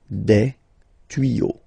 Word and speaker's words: tuyaux: Same rule, you don't pronounce it. Des tuyaux, okay?